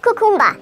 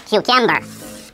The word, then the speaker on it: cucumber: Not cucumba, it's cucumber.